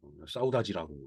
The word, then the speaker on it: saudade: 이 향수라고 하는 것은 어, 사우다지라고 읽는다고.